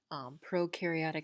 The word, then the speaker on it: prokaryotic: of flagella or cilia prokaryotic cells versus eukaryotic so prokaryotic means they don't have a nucleus eukaryotic means that they do have a nucleus so euk rhymes with nuke pro rhymes with no um so yeah a